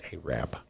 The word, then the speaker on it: Arab: from arab high school it's spelled a-r-a-b but it's alabama so they pronounce it a-wrap okay just like in